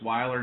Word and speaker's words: Weiler: pronounced your name there i know it's weiler not wheeler so that's my apologies